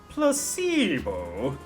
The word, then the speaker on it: placebo: to our vocabulary today repeat after me Placebo the stress is on the middle syllable Placebo very good you're feigning